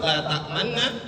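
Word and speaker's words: لا تأمننا: Kalau kita bacanya secara umum laanuna. Tapi kalau dalam surah Yusuf ayat 11 yang ditulis di dalam mushaf la tak tamanna. Kalau kita mau baca dengan cara ini maka harus dipercepat dua kali lipat pada huruf nun yang pertama dan nun yang kedua.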